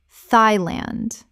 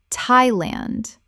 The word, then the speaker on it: Thailand: Nee-jair Niger Word 108 Thailand Common mispronunciation, Thigh-land. Correct pronunciation, Tie-land. The TH makes a simple T sound, not the TH sound of the or thought.